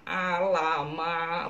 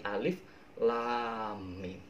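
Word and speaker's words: الم: Cara bacanya itu bukan alama, bukan, tapi alif lam mim.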